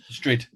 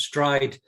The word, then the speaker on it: Strid: Strid. Yeah. Which, yeah, we would say strid, but it's pronounced stride by the...